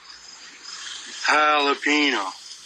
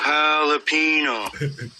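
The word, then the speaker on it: jalapeño: Pick me up a bag of jalapeno chips. All right. Jalapeno? What flavor is that? Ricky J silent saying the J is like an H. Ricky Jalapino not gelato.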